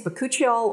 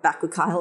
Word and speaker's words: bakuchiol: This contains bakuchiol, or bakuchiol, apparently I've been saying it wrong, and rosehip